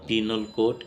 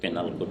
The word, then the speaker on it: Penal Code: যারা আছে আমরা এটাকে পেনাল কোড বলি। পেনাল কোড উচ্চারণটাও সঠিক নয়। ইন্টারন্যাশনাল ফনেটিক্যালি এটা উচ্চারণ হয় পিনাল কোড।